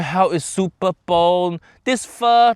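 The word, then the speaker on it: phở: we're going to make foe a classic French Vietnamese dish which actually FAA it should be called fur correct it pronounced fur like how is Jamie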